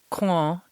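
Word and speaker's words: coing: i hit the french piece and here's the pronunciation claw and it means quince okay i knew that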